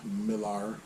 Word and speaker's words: Millar: comic Kick-Ass, along with Mark Millar, or Miller, however you say it. I like to say Millar, that's how it's spelled. I've heard people pronounce it both ways.